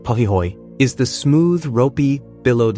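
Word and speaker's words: pahoehoe: Pi ho pronounced pihoy is the smooth ropey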